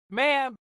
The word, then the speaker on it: ma'am: Ma'am! Thereafter, to rhyme with jam, never with palm, a small distinction that the whole court will silently judge you on.